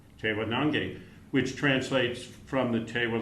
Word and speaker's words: Tewa Nangeh: Jason Garcia, who have co-curated a show called Tewa Nangeh. Is that pronounced correctly? Correct. Tewa Nangeh, which translates from the Tewa language as Tewa Country.